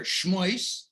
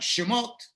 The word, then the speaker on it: Shemos: call it the hater who like to hear schmoys i got some israelis who want shimote and i got regular in between a sky and kids it's shamose so i gotta say every word three times so they understand what